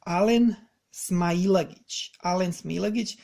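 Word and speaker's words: Alen Smailagić: I'm gonna say it again because I see like no one can get this name right on all of these podcasts. All of these people pronouncing this name, they butcher him. So he's Alen Smailagic.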